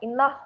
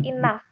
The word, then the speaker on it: enough: jadiin Oh di sini tuh bacanya bukan in love ya tapi Inaf infanteri-1 in a few